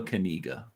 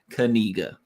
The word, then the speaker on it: Kaniga: none other than Noah Kaniga. That's right. That's how you say his name. I know because I listened to the interview with his dad, and he said it said Kaniga, like your kneecaps, Kaniga.